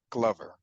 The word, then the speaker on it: Glover: Is that a correct pronunciation? Thank you for getting that correct. Yes, it is Glover, not Glover.